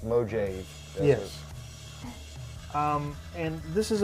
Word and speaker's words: Mojave: thing called the mojave desert phone booth it's pronounced mojave yes um and this is a it's literally